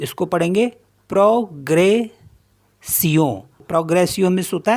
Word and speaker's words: progression: Next है PROGRESSION, तो इसको पढ़ेंगे प्रोग्रेसियों, प्रोग्रेसियों मीन्स होता है प्रोग्रेस।